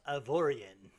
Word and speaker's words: Avorion: everyone oh I have been towed it's actually pronounced of Orion which is probably actually more correct but I'm